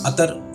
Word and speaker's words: अतर: अतर Arabic में mostly इसको बोला जाता है, इतर उर्दू फारसी का एक लफ्ज़ है, ठीक।